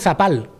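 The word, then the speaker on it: zapal: sabinas con ese entonces en portugal a las marismas le llaman sapal con ese porque hay muchas apenas nosotros hemos adaptado la palabra está con nuestra pronunciación le hemos puesto la zeta y decimos sapal pero viene de una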